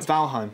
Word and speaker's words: Valheim: another game it's called valhem i think i'm pronouncing it that's right valheim yeah and it came